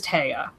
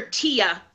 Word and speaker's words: Tea: other thing you know how is the main character's name pronounced T or taya yeah they said it like they said it was taya she was like the